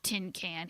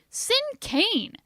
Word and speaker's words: cinquain: Gee, I'm sorry, May, but it's not tin can, he said. You must not have heard me correctly. This word is pronounced like the words sin and cane. Sin cane.